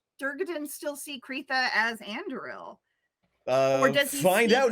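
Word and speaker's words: Andúril: Anduril is correct. Arundel is my mispronunciation of it, which I did for several episodes. So like, I'm not worried about it. That's the one I remembered. But Anduril.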